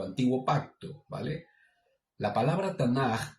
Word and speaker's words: Tanaj: Hasta ese tiempo eran los 5 primeros sefer, los 5 primeros libros del Tanaj.